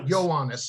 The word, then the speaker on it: Ioannis: This is the book that he had written with, how do you pronounce, Ioannis? Ioannis, okay, thank you.